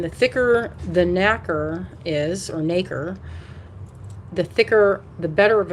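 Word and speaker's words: nacre: the outside is called it's spelled like acre with an n in front and and then they grow it around like a mother of pearl bead and the thicker the is or naker the thicker the better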